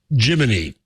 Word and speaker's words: Gemini: story at the time NASA clears up way gini is pronounced and what does Nasa say um Jiminy as a cricket oh really yeah see